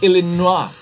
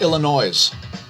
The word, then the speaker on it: Illinois: i don't know why they don't pronounce it correctly it's illinois not illinois it annoys me to hear people say illinois i mean do you